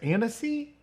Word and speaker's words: Annecy: How do you pronounce it? Annecy?